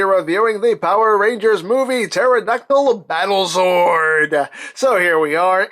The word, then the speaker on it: pterodactyl: going to the bathroom because the P is silent ah I know it's